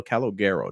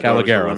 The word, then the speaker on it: Calogero: The new full-time brand is called the Bronx Tale Calogero, named after Palminteri's grandfather, similar to the wine. So wait, then these are the oh no, yeah, this is what we're talking about. Yeah, Calogero.